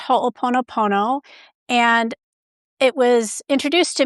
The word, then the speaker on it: Ho'oponopono: It's It's kind of around the Pacific Rim in slightly different versions and it's pronounced Ho'oponopono and it was introduced to me because there's